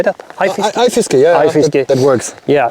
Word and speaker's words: Fiskeguide: Fiskeguide, yeah, Fiskeguide.